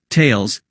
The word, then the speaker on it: Thales: Greek philosopher Thales pronounced tales reflecting its pronunciation in French from thomson-csf in December